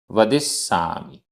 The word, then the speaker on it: वदिस्सामि: आधा सा पूरा सा। वदिस्सामि।